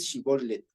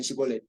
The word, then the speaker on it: shibolet: como como el shibolet y ellos decían shibolet o sea con la conet O sea con s y con con t seca en cambio los otros pronunciaran shibolet shibolet o sea con una t media aspirada entonces hay dos dos características